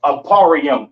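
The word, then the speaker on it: אפרים: Pronounce Aparium in the Hebrew, Aparium in the Hebrew, right?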